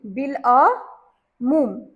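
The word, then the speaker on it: بالعموم: अलिफ की आवाज साइलेंट हो जाएगी और लाम की आवाज आएगी। तो यहां पर अलिफ लाम एन मीम के साथ बड़ी ऊ की मात्रा और मीम बिल अ मूम ठीक अबुल कलाम बिल्कुल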